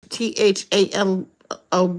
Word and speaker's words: phthalo: And this THALO blue 110 from polychromos. Thilo. Oh, so PH is silent.